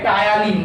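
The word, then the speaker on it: ptyalin: তাই তো, মুখবিবরে কি উৎসেচক খরিত হচ্ছে বললাম, যে টায়ালিন। তাই তো, উৎসেচকটার নাম কি, টায়ালিন। টায়ালিন বাংলা বানানটা টি ত দিয়ে, ইংলিশ বানানটা একটু অন্যরকম, CTY।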